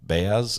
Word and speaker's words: Baez: a little different um with Baez is that is how you say his name um that was that